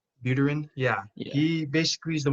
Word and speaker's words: Buterin: what's his name vitalik brutrin how do you say his name cameron it's not like uterine buterin yeah he basically is